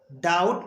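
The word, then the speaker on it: doubt: पहले बी आता है तो हम बी को नहीं पढ़ते हैं तो उसको क्या बोलेंगे डी ओ यू बीटी अब इसको डाउट पढ़ेंगे डाउट डाउट मीस संदेह इसमें बी साइलेंट रहेगा इसी तरह से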